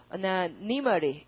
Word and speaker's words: anonymity: 그리고 명사로 읽을 때 발음이 달라집니다. 명사로 해보시죠, 여러분이 먼저. 발음이요. anonymity 이렇게 되는 거죠. 그래서 이렇게 지켜서 읽어줍니다. 형용사 때 anonymous 그러고 명사 anonymity 이렇게 실제로 읽습니다.